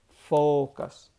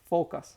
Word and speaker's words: focus: Focus. For the Spanish speakers, this would be like the seal. Focus. Focus. Or. Okay? Think about the focus in Spanish, that animal, and it should be that pronunciation.